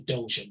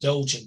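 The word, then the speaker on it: Dogon: oldest tribe on the planet today is the dojan tribe well I haven't heard that story that's interesting it's spelled dog on d-o-g-o-n dojan tribe in Africa yeah there's been lots of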